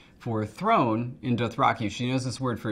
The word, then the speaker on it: Dothraki: And so when you talk about like the word Dothraki, it's Dothraki, separate syllables.